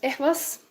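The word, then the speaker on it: Ehwaz: Then we have this EAS. Am I pronouncing it correctly? Yeah, Ewas rune.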